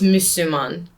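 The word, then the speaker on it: Müslüman: that's the first part now you're saying Muslim is if it's two s's instead of one you yeah that's how you say it in Turkish in Turkish it's musliman okay so that's closer it's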